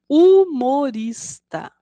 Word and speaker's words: humorista: procura provocar o riso o humorista começa com H mas o som Inicial é o da vogal u vamos ver novamente humorista crianças Esse foi o